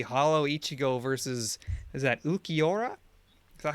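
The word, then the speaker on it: Ulquiorra: So it's going to be Hollow Ichigo versus, is that Ukiora? Is that how you say it? Yes. Ukiora.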